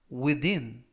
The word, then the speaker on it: within: 이름은 철자를 어떻게 쓰죠라는 표현이 되겠습니다 이번 표현은 within within within이라고 발음하시면 되겠고요 이때는 어 돼지꼬리 발음가 되겠고요 강는